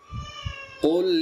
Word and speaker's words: قل: بسم الله الرحمن الرحيم قل يا أيها الكافرون قل يا أيها الكافرون জি কুল কফ এটা আগে আমরা কুল তিনটা পড়েছিলাম কফ এটা বড় কফ জিহ্বার গোড়া থেকে সুন্দরভাবে উচ্চারণ হবে মোটা করে আর ইয়া হচ্ছে উপরে